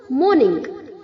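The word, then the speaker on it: mourn: Okay, कुछ बच्चे इसे माउन प्रोनाउंस करते हैं, MO के आगे U है तो वो उसे माउन प्रोनाउंस करते हैं। गलत प्रोनाउंसिएशन है बच्चों, माउन नहीं होता है मॉर्न, मॉर्न। ओके, MO के आगे जो U है, U को हमें प्रोनाउंस नहीं करना है, MORN।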